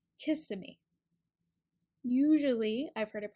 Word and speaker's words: Kissimmee: always heard it pronounced Kissimmee the difference in this one Kissimmee is that the stress is on the second syllable Kissimmee Kissimmee sometimes I hear it